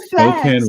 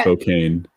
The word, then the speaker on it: Spokane: Yeah, Yes, it Lucifer, does it's seem like you're pronounced asking for it. Spokane, not Okay. Spokane.